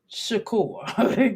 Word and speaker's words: Shakur: you like insecure uh Shakur you're like insecure Tupac Shakur okay and I'm not calling Tac inse insecure I'm just saying the last name you rhyme your energy rhymes with secure okay that's what it